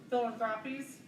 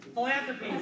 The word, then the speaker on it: Philanthropies: Sheila leads Tusk Philanthropies, Philanthropies, thank you. The emphasis was on the wrong syllable.